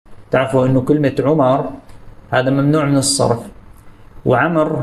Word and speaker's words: عمرو: ما رح تشكل مع عمر لانه عمر لا تحتمل الالف والتنوين اما اذا كانت في حاله النصب او الرفع فيضعون واوا لا تلفظ فيقولون عمر